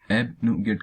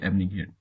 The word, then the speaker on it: abnegate: ये इसकी word profile अपने आप में एक वर्ब होती है, और उसका प्रोनाउंसिएशन यहाँ पे एबनिगेट करेंगे, ना कि एबनिगेट।